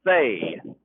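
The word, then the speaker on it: Phe: Individually, the quarterback is Isaac Fay, spelled P-H-E, pronounced F-A-Y.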